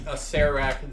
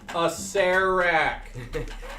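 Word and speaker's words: Acererak: And for everyone out there who doesn't know how to pronounce it, Acerak. Okay? Acerak? Acerak. The second. Acerak. Gods damn you all. The second. Acerak. Who has a silent R in their name?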